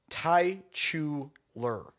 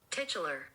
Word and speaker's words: titular: Oh, it's Tai Chuler. Taichuler. The tighter mermaid role Aquamarine in the 2006 film Aquamarine. Here you go. Titular.